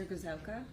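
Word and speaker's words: Gryszowka: name for the derbs my name is gazelka my last name is spelled g-r-y-s-z-o-w-k-a and where do you currently work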